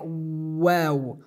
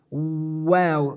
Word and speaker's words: و: the definition of this word this letter we pronounce it by pickering our lips like wow wow the examples that we have definitions of